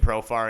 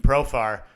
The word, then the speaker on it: Profar: Jerks and Profar blows the Jerks and Shofar. Right. And not literally. that's a rhyme. He's not literally. Jewish. No, he's not Jewish, but his name rhymes with Shofar.